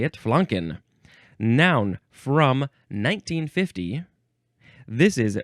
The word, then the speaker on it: flanken: proper way to say the vowel ah yes flanken uh this is a Yiddish word it's the